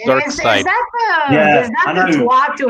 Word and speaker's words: Darkseid: Does anyone else ever used to call him Dark Seed? I think I used to call him Dark Seed. And it's pronounced Dark Side.